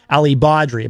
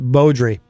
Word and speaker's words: Beaudry: He always says Alli Beaudry, but I believe it is pronounced Beaudry.